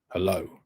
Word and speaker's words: hello: course is hello hello hello so where is it stressed H or low it's stressed on the low it's stressed on the second syllable when you come to